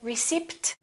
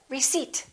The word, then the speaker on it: receipt: new clothes all right silent p don't say receipt say receipt can i have my